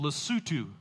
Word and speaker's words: Lesotho: There's a little landlocked nation called Lesotho, is how you say that.